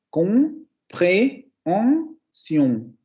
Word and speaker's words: compréhension: Tendríamos 4 sílabas. Compréhension, compréhension. De hecho, cuando se pronuncia, se escucha de esa manera. No se escucha como en español. En español sí tendríamos 3, comprensión, comprensión, pero porque tenemos ahí el fonema nasal. Pero en francés no. En francés tenemos 4 vocales y por tanto debemos tener 4 sílabas.